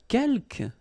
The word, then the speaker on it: quelques: Quelques, you don't pronounce the final S here. Quelques means few, okay?